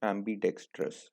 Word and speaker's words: ambidextrous: सो इट is pronounced एम्बीडेक्स्ट्रस।